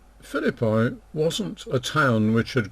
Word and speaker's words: Philippi: by the way that when i was taught latin i would have pronounced this philly b but i'll for the purposes of our study here i'll stick to the more usual pronunciation and tell my latin